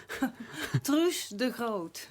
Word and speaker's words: Truus de Groot: Et bonsoir Truus de Groot. Did I spell it, say it well? Yeah, How do you say it? Truus de Groot.